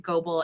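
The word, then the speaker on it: Goebel: actually Googled that today do you pronounce it gobel or is it Global and it's actually um with an American accent it's global okay so she is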